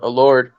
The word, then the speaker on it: Elorde: All we had to do was add an A to the Elorde. It's Elorde and Navarrete, so pretty good.